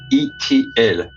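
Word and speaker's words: Itiel: Extraterrestrial, so just add the letter L, so it's pronounced E.T.L.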